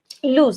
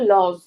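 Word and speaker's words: lose: তো দেখো একটা শব্দ লজ, বা এটা অ্যাকচুয়ালি লুজ উচ্চারণ করা হয়, এলওএসি। কি উচ্চারণ করা হয়, অনেকে লজ বলো, বাট উচ্চারণ কিন্তু লুজ, এলওএসি, লুজ।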